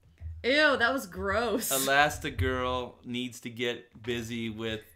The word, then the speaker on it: Elastigirl: that girl Google search made me realize it's spelt a last like a last two girls and I I thought it was a last girl with an A last day it's elastic girl okay is that okay